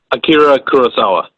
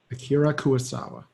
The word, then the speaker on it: Akira Kurosawa: I don't want to mispronounce it. It is Akira Kurosawa. Akira Kurosawa.